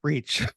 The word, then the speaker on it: Reach: Her last name is pronounced Reach, in case you were wondering, like if you read it.